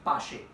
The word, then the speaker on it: Paasche: Second author का नाम है पाशे। मेक श्योर पाशे, यू प्रोनाउंस इट एज पाशे।